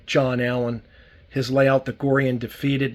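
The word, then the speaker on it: Gorre & Daphetid: Allen his layout that gorian defeated that's how it's pronounced Corian defeated this car was made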